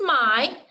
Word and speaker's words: my: It's pronounced I, like the long I.